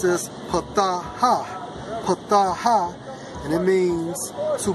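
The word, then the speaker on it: פָּתָה: And it's Strong's H6601, pronounced as pataha.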